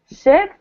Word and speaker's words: ship: in both chat boxes, the difference between E and E. So EE or EA versus I, the letter I. Okay, so I'll give you some examples. Can anyone pronounce these two words? Sheep. Uh-huh. Sheep. Yeah, good. Ship, sheep, right?